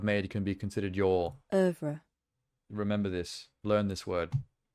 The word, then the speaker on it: oeuvre: I am not familiar with her oeuvre.